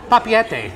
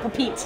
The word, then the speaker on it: Papeete: Finally, that's how you pronounce it. I've seen it so many times. Yeah. Papeete. Papeete, oh, okay. All right. Not Papeete.